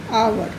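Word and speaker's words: hour: एक और वर्ड लेते हैं आवर। यदि आप इसको हावर बोलेंगे तो गलत ही आर्टिकल लगाएंगे। इसका सही उच्चारण है आवर, क्योंकि एच इसमें साइलेंट है।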